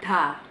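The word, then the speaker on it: ㄷ: Huruf yang selanjutnya ada huruf D, tapi kalau dalam bahasa Korea dia dibacanya da, da. Oke? Gampangnya, kalian kayak ngomong da aja, kayak biasa da, tapi lidah kalian nempel ke gigi. Jadinya kayak kita ngomong ta, ta, ta. Kita ngomong ta gitu kan, ta, ta, ta.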